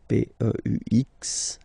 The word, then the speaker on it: peux: P-E-U-X, okay? You don't pronounce the final x.